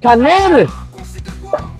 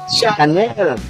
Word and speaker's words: Chanel: Ay channel. Ay grabe Channel channel. Ano bang pronunciation nito? An sa inyo Chanel.